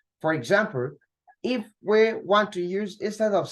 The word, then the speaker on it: tous: When to is used as a pronoun, the S at the ending is pronounced. That means that if we are using TOUS as a pronoun that is standing alone, that is not qualifying any noun or pronoun, then we'll pronounce tous, not two, right?